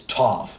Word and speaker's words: Toph: the tough guy goes, "My name is Toph because it rhymes with tough," and I love that scene.